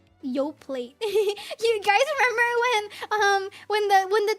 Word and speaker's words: Yoplait: You don't pronounce the T on Yoplait? There's no way. Why would you put a letter there and then not let me pronounce it?